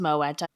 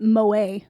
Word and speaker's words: Moët: However, Moette, it's pronounced Moeta. It's Dutch. The word is Dutch, but the bottle is French. Fascinating. I definitely have been calling it Moa.